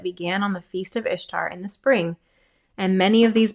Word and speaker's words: Ishtar: Semiramis became known as Ishtar, which is pronounced Ishtar, referred to as Ashtoreth or Asherah in scripture, and her moon egg became known as an Ishtar egg.